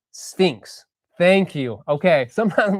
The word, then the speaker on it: SFINCS: Mike says SFINCS is pronounced Sphinx.